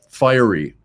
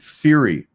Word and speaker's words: fiery: also um i remember i mispronounced a word fiery in school once and the teacher corrected me i i was calling it fury i'd never heard it